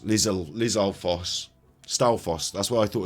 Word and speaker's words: Lizalfos: It's pronounced. No one can say that. Lizalfos. Lizalfos.